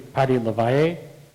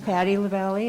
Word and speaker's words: Patti Lavelli: his family thank you i'm not entirely sure how this is pronounced but it could be patty levie honoring mayor dingler yes my name is patti lavelli i live in ocean